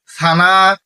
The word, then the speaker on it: সানা: সানা, সানা সহি উচ্চারণ হচ্ছে সানা, সা দিয়ে উচ্চারণ।